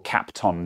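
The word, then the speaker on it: Kapton: or you should have captain taped and they're absolutely right i often forget that i have captain tape or cap tom tape to pronounce it properly i forget that i've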